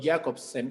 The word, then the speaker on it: Jakobson: creado por el lingüista roman jakobson o jakobsen como lo pronuncian algunos algunos estudiosos que diseña ya